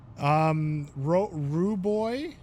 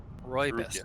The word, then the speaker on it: Rooibos: Rue Boy chai, a cinnamon Rue Boy. What's it? How do you say it? Rooibos. Rooibos. Rue Boy. Rue Boy.